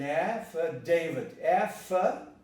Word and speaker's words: affidavit: The stress is affidavit, affidavit. So this is an affidavit. The E becomes a schwa, affidavit.